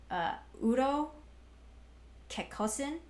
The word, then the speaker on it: Kekkosen: Kekkosen is the Finnish pronunciation. Kekkonen is the Swedish pronunciation.